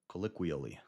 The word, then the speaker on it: colloquially: Yeah, but that second O makes a I sound. Colloquial. Colloquially.